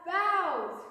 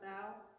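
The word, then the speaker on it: bough: bges right there that's bows b o u g h is pronounced bow that's right bow he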